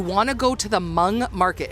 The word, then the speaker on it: Hmong: to go to the Hmong market. It's spelled Humong, but it's pronounced Hmong. It's in St. Paul. Just Google Hmong. So it's spelled Hum. So it's not Hmong, it's just Hmong.